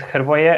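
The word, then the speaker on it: Hrvoje: play fpl yeah uh well my name is jervoya and don't worry i mean my name has been butchered in many countries all over the world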